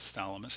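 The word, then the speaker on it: Chthamalus: So here in this example we're looking at this is one species of barnacle uh pronounced phalamus. I believe the ch is just silent here.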